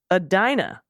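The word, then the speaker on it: Edina: Adina Shakopee and Wayzata Adina is a Dinah okay Adina Chicopee Shakopee all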